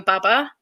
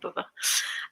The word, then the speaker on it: baba: And I think it was a post that you'd written about your baba. And is that how you pronounce it? Mm-hmm. Okay, some people say baba.